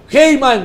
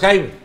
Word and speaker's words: Haim: Heyman dice que los extraterrestres sí que ¿quién? Trump... Heyman. Heyman. Ah, no, Haim. Haim. Haim. ¿Cómo se pronuncia? Haim Eshet.